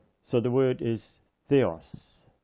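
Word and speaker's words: Θεός: it is an S so the word is Theos Theos so so far it says H Theos coming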